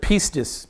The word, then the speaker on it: pistis: Pistevo is how the Greeks would pronounce it. Pistevo, in the noun form, it's the word pistis, P-I-S-T-I-S, and it means to believe.